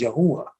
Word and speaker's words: Yahuah: Those are the first, that's the first half of how you pronounce his name, which is Yahuah or Yahuah.